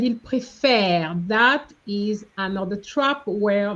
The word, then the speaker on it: préfère: You said il préfère. That is another trap where very often when students see ENT, they want to say en. No, ENT in the present tense is silent.